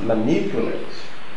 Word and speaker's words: manipulate: The word is pronounced manipulate. Manipulate. Now, if it is manipulate, where is our answer? Is it A? No. If it is A, it would have been pronounced manipulate. Manipulate. Manipulate. If it were to be C, it would be something like manipulate, which is how many some people pronounce it manipulate. Okay, so but the pronunciation manipulate has stress on the second syllable.